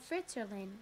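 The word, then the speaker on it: Fritzerlin: the village is called Fritz Erlin name to rhyme with Switzerland a place the fritz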